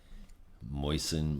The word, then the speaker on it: moisten: Moisten my mouth.